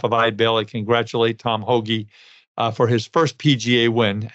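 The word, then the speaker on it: Hoge: his name is Tom Hoagie. It's pronounced Hoagie, H-O-G-E.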